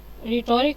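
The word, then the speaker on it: rhetoric: रैट्रिक मैटरिक मैचिक मैचिक रेट्रिक कह रहा है जी ये ठीक है जिस तरह मैं पढ़ती हूं ना राइट रेट्रिक आपकी स्पेलिंग्स आपको उस तरह कभी नहीं बोलेंगी।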